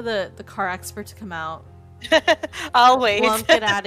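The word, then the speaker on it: を: It also looks like wo, but it is said as o.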